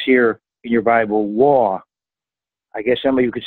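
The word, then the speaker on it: וו: Verse 41, and it says here in your Bible, "Wah." I guess somebody could say "Wow," because you could really get excited about it. But it says "Wah," and in modern Hebrew, we pronounce it "Vav."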